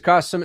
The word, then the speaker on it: Qasim: If we haven't met, my name is Qasim. It rhymes with awesome.